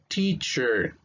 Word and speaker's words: teacher: Teacher, teacher.